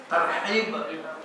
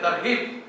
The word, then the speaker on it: tarhib: Eh tarhib Ramadan tapi bacaannya harus jelas tarhib atau tarhib karena kalau tarhib itu dari rahabahibu itu bisa jadi menakut-nakuti artinya ya iltihab itu malah terorisu ya jadi membacanya harus pakai ha h itu tarhib bukan tarhib thib itu Dar